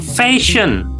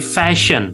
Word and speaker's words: fashion: Nah, di bahasa Inggris kalau ada kombinasi S dan H, maka dia otomatis itu S yang tebal atau thick s. Kalau dalam bahasa Arab itu sin ya dengan tiga titik sh. Jadi fashion.